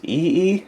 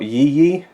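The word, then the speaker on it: Yi Yi: another Edward yang film I believe this is pronounced EE not yee either way looking forward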